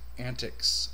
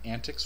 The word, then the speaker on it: antiX: to you i'll be calling it antics from now on instead of anti-x that's how i've heard it kind of pronounced in some of the